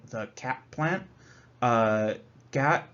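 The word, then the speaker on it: khat: the cap plant uh Gat is I think uh it's properly pronounced as if it were g-a-t uh Gat is a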